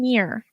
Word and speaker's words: Khmer: going andir kir kir Keir thank you but it's spelled k h m e r there's no vowels minus the E right right right right